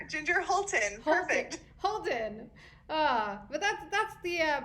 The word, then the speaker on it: Hultin: Ginger Hultin.